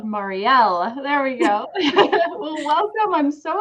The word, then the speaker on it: Mariel: Please welcome Mariel. I think I said it wrong again to the show. It's okay. Yes, it's Mariel, but that is totally fine. Yes, I have to remember that L, Mariel.